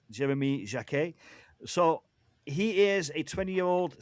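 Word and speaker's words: Jacquet: by his club and this is Jeremy Jac as I've been told is pronounced Jeremy Jac.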